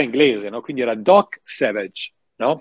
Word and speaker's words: Savage: era il doc Savage era scritto Savage Ma si pronunciava in inglese Cioè era inglese no Quindi era doc Savage No è vero però